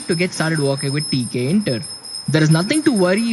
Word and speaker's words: Tkinter: Yes, it's spelled as TK Inter, right?